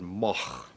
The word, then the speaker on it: Moog: you pronounce em oog it's originally a Dutch name this goes back you know a thousand years or so and in Howard you would pronounce it mo yeah I'm not gonna say that in Great Britain in english-speaking countries people see the double O and they say Moog I just happen to